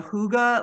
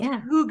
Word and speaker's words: hygge: So, for those of you, if this is new, it's pronounced hygge, I believe, but it's spelled Hygge.